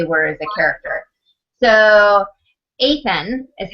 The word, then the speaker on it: Athan: to who they were as a character so athan is how i pronounced it I'm a with yes so athan